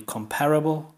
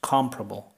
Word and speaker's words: comparable: she says this word in British English it would be comparable comparable see um sorry uh four sorry five syllables comparable but in American English this is only three syllables comparable comparable okay let's continue more